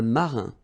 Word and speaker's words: marin: I-N nasal, un, okay? un marin.